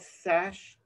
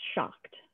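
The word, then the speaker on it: Schacht: I think it's this, is it called Sash, the school loom? How do you pronounce it, Claire? Oh, I think it's pronounced Shocked, but Shocked.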